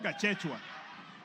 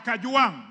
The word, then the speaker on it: Kajwang: Speaker, first of all, pronounce my name properly. I'm not Gachechwa. I am KAJWANG, not KAJWANG.